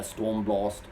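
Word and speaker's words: Stormblåst: So the 3 live tracks at the end, they're Stormblast. That's the way you pronounce it, Norwegian.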